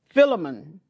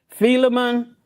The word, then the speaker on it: Philemon: And the last one we'll talk about is Philemon. Some pronounce it Philemon, but we go to Philemon, where Paul wrote to Philemon.